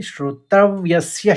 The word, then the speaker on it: श्रोतव्यस्य: तो इसको इस तरह से उच्चारित करेंगे, श्रोत्रव्यस्य श्रुतस्य च। हल्का सा शौ का उच्चारण आएगा, श्रोत्रव्यस्य श्रुतस्य च।